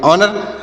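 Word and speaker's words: honour: मतलब घंटा होता है एच ओ एन ओ यू आर तो यहां पर एच साइलेंट है तो इसे क्या पढ़ेंगे ओ से पढ़ेंगे ओ एन ओ यू से पढ़ेंगे न आर से पढ़ेंगे र तो से पढ़ेंगे ऑनर ऑनर मतलब क्या होता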